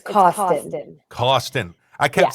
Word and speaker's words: Cawston: It's Cawston. Cawston. I kept saying Cawston, but there's an A in there. You could say Cawston.